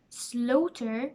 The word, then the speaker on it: slaughter: end of them and they are silent GH our daughter slaughter no t straight wait eight fight height at the end of